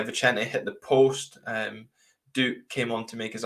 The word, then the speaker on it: Duk: hear Joe's correct pronunciation that is Duke not duck um what did you